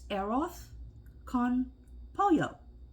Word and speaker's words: arroz con pollo: times this morning I I Googled it to hear the uh the Spanish person say it uh it's air off con pollo and even though I always say arrows con Polo because that way I